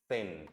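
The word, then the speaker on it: zehn: 10 के लिए हम यूज करेंगे सेन, जेड का साउंड से, ई का ए, एच साइलेंट और नेट, सेन।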